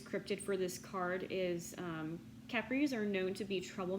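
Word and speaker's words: Kapre: is the the the Capri I think that's how you say it it is ka p r e it's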